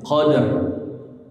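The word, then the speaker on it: قدر: ditelaki seperti ini bacaannya jadi rnya dibaca tebal jelas ya Qadr ingat patokannya dua huruf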